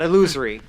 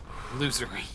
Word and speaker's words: losery: Not illusory. Losery. They're all We've already Losery agreed in the duplicates. past. The pronunciation is just losery.